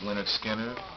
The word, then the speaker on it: Lynyrd Skynyrd: Pronounced Lynyrd Skynyrd, which is, I mean, of course, all Lynyrd Skynyrd albums are good albums.